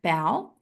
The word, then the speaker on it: Bowe: Bowe. Surname rhymes with cow.